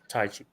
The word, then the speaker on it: Taichi: Is that how you pronounce it? Taichi.